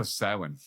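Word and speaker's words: Samhain: so like you know salmon oh yeah spelled s-a-m-h-a-r-n how do you think they say it Sam and I got I remember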